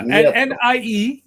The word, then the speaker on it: Nieto: Nieto. That's how you say it. Pete said it right. Yeah, Nieto.